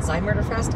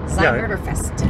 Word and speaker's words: Zymurderfest: Well, oh, it's called Zymurderfest? Yeah. Oh, oops, I've been saying it wrong. Anyways, yeah, Zymurderfest.